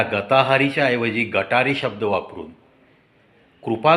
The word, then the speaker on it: गताहारी: पोहोचवा की अरे बाबांनो इट्स नॉट गटारी त्याचा प्रोनन्सिएशन गताहारी गत अधिक आहारी तुमच्या आहारामध्ये वैज्ञानिक दृष्टिकोनातन